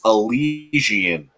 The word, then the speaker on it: Elysian: Now, let me ask you, Jammer fan, do you pronounce Eliason or Elysian? So, according to the distributor that distributes the beer in my area, it's Elysian. Elysian. Oh, so that's 3 different ways, huh?